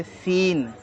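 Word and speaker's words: scene: ई इसको हम पढ़ेंगे सीन सीन सी तो है ही नहीं इसमें सी साइलेंट है एस सी आई ई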